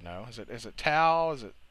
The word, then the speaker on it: Tso: asian you would know is it is it tau is it how do you pronounce that what no tso you can't even spell it dude what the